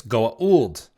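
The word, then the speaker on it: Goa'uld: versions sorry if you're correct about it it's Goa old yeah if you're insulting about it it's Gould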